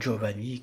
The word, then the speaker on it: Giovanni: Et de même pour les prénoms italiens comme Giovanni qui s'écrivent avec un G mais se prononcent DG.